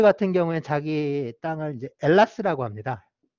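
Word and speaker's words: Ελλάς: 경우에는 자기 땅을 이제 엘라스라고 합니다. H 있는데요. H 있는데 H를 발음을 안 해. 헬라스 우리 이제 그냥 읽을 때 헬라스 이러는데 발음은 저 엘라스라고 이렇게 발음을 해요.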